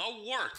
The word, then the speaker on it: Wort: It is the Wort. Not warts, not forts, not short. The Wort.